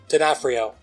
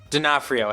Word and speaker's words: D'Onofrio: has Rucker Hower and Vincent diorphono did I say his name right diaphrio D'Onofrio has him too um